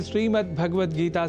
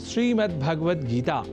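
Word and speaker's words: श्रीमद्भगवद्गीता: यह शब्द ही है जैसा कि मैंने उच्चारण किया श्रीमद् भगवत गीता जिसे अवधान वश हम श्रीमद् भगवत गीता या श्रीमद् भागवत गीता या भागवत गीता कर जाते हैं जो सर्वथा अशुद्ध है इन उच्चारण में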